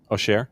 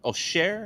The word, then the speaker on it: Auxerre: How did you pronounce the home team? Auxerre. Auxerre?